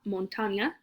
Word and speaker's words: montaña: For mountain, we have la montaña. Remember that N with the squiggle? It's its own letter in Spanish.